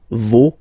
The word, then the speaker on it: vos: pronounce the final S, vos, you don't pronounce it, leur.